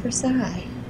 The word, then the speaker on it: Versailles: It's pronounced Versailles.